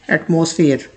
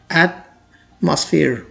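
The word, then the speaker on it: atmosphere: कुछ लोग जो ओ का साउंड प्रोड्यूस करते हैं वो ऐसे पढ़ते हैं एटमॉस्फेयर, लेकिन अगर आप इसे ऐसे पढ़ते हैं तो इसकी प्रोनाउंसिएशन गलत होती है। थोड़ा सा इनिशियल 2 लेटर्स पे स्ट्रेस दिया जाता है, इसकी प्रोनाउंसिएशन इस तरह की जाती है एटमॉस्फेयर।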